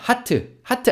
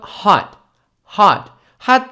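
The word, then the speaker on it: hot: 뜨거운이란 뜻의 핫 있습니다 하트 하트 아니고요 그 뜨거운 건 핫 핫 핫 젊은 사람들이 핫 플레이스라고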